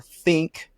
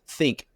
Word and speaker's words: Thinq: I introduced you as the next gen director for Think. Some people are going, what is Think? THINQ Yeah. is how it's spelled.